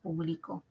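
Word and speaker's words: publicó: verbo es un verbo es una acción yo publico yo publico todos los años por ejemplo Ya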